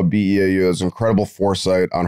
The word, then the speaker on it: Beau: Beau Allen. Yeah. Thank you for having me, gentlemen. I really appreciate it. And that is spelled Beau, B-E-A-U. Like beautiful.